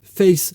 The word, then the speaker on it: face: Each playlist is called Face Something, Face Vinyl, Face 45, and so on. Face is pronounced face in French, and face in that